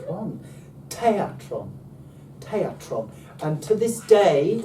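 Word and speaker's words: θέατρον: Te. A. Tron. Tron. Teatron. Teatron. And to this day, we pronounce the modern English word theatre, but we spell it with a TH.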